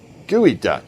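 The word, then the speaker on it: geoduck: Gooey duck. That's it. Thank you. Gooey duck. I know it's spelled differently like that, but I don't think I want to eat a gooey duck.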